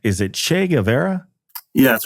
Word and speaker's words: Che Guevara: young woman, and I never know if I pronounce this name correct. Is it Che Guevara?